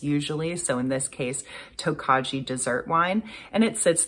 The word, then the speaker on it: Tokaji: I saw a bunch of different pronunciations on Google, so I'm sticking with Tokaji. Yeah, I saw pronunciations like Tokoi and Tokai and Tokei, and I apologize to anyone and everyone for butchering that pronunciation.